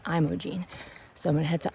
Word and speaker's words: Imogene: Imogene which is when I was pronouncing it Imogene and multiple hikers I've met along the way have corrected me it's Imogene so I'm gonna head